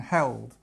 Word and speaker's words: held: she held the baby can you see how we've got slightly different pronunciations between hold and held hold is this one oh